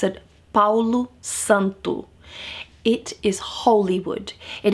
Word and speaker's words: Palo Santo: Santo para los Santo and that's how you pronounce it Palo Santo it is holy wood it is said that